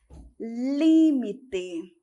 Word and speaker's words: límite: Em espanhol, nós temos límite. Em português, nós temos limite.